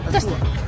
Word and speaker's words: Tà Xùa: Khoan khoan khoan khoan, tại sao cái chữ tà xùa này có chữ gì với lại chữ bờ này ạ? Cái đấy là chữ tiếng Mông này. À, thế là đọc là gì? Tà xùa.